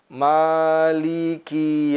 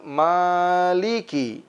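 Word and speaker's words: مَالِكِ: lafaz miliki yaumiddin adalah kalimat Maliki seringkali dibaca Malik Malik Malik nah seolah-olah hurufnya bertasydid tapi hendaklah kita pisahkan Maliki yaumid Dini pada kalimat Malikiyaumiddin yang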